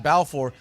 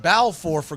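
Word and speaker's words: Balfour: But if you're not looking at the screen, you hear me keep saying Balffor. It's spelled as ball for B A L F O R. He pronounces it bow for good reasons if you're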